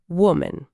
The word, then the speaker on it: woman: A frase é: "There is one woman in the new group." E a palavra final, woman. É um som bem suave, né? O a no finalzinho soa como aquele famoso chuá do inglês, que é um som